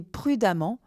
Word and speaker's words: prudemment: Lorsque l'adjectif s'achève par un en ENT, l'adverbe s'écrira amant, E-2-M-E-N-T, prononcer amant pour compliquer les choses, comme prudent et prudemment, P-R-U-D-E-2-M-E-N-T.